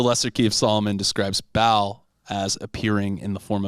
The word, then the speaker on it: Baal: Okay, so the first demon listed in the grimoire is King Baal. Baal, depending on what. how No, you King pronounce Ball, dude. B-A-A-L?